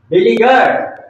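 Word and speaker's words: beleaguered: अब दूसरा मीनिंग है next one इज़ बिलगर बी ई एल इ ए जी यू ई आर इ डी इसका उच्चारण है बी पर कमजोर स्ट्रेस कमज दो ली पर लैब स्ट्रेस ज्यादा देंगे और ये सीधा है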